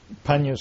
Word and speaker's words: Pannyavaro: And that's when I first met Venerable Pannyavaro. Now, I'm working hard on pronouncing his name correctly, but you call yourself... Panya's quite okay, too. Panya's okay, too.